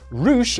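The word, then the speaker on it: Rush: Roosh, and yes, that is how you pronounce it, is an incredible heel, one hell of a brawler, and honestly, world champion material.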